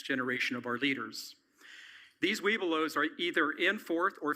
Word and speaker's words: Webelos: Webelos.